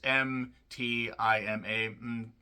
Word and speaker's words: Mtima: It's M-T-I-M-A. Mtima. I think is how you say it.